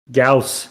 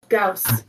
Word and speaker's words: Gauss: Gauss. There you go. That is Bing pronouncing it for you. Gauss.